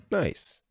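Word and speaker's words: gneiss: changes into quartzite and granite changes into nice pronounced nice note an important mineral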